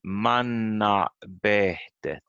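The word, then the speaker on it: mannabehtet: And then we have a stress on every second syllable. You can say di manna behtet. We get an extra stress here because it's 4 syllables in this word. So it's manna behtet.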